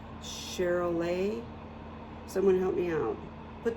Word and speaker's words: Charolais: So I think it's like a French, you don't pronounce the S. Charolais.